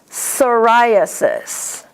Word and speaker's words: psoriasis: And a PS is pronounced like an S. Psychology, psychosis, psoriasis.